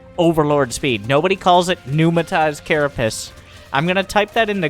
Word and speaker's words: Pneumatized: Like, I think the P is silent, because that's how English works.